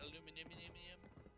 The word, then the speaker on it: aluminium: Hey, Vermi, do you have the way the British say it, aluminium?